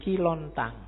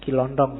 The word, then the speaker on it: Kilontang: Ada muridnya namanya Kilontang. Kilontang ini waktu diinterogasi antara lain yang diucapkan itu. Bukan Kilondong ya. Kamu ngerti ini Kilontong.